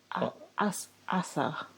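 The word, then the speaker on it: Azah: her lap okay yeah we're pronouncing her name wrong by the way AA it's I think it's like Assa what I was trying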